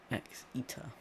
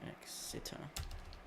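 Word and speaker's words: Exeter: X Eater not exitter eater post right again not much happening at the moment.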